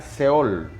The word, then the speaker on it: Seol: Hades es la transliteración de una palabra hebrea que significa que se pronuncia Seol, que significa infierno.